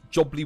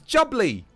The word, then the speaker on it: jubbly: No one ever gets it right. Even Fred didn't spell it right. I mean, closer. Lovely jubilee day. It's jubbly. Jubbly day. A jumbly day? There you go. Innocent got it right. Lovely jubbly day.